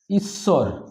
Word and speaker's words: ঈশ্বর: ঈশ্বর, এটাকে আমরা উচ্চারণ করি ইস একবার স্বর একবার, ইস একবার আর স্বর একবার।